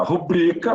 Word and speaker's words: rubrica: Então, olha, rubrica, termina em A, é paroxítona, não leva acento. Ibero, termina em O, não leva acento. Assim como tem filantropo, misantropo. Certinho, pessoal? Então, as palavras rubrica, ibero, são paroxítonas. E são assim mesmo, são sem acento.